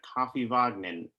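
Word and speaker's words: Kaffivagninn: pretty good pronunciation a it sounds like you know coffee vogmen and oh yeah see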